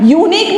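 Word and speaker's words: unique: बट यूनिक में sound you का आ रहा है.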